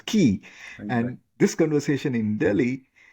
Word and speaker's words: Guy: When somebody reads it, GUI, would assume it's Guy, but it is pronounced as Key.